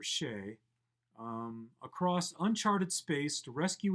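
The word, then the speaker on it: Sidhe: Robert Fenaday must drive the starship She, S-I-D-H-E, I think it's pronounced She, or Shay, across uncharted space to rescue his wife before war breaks out.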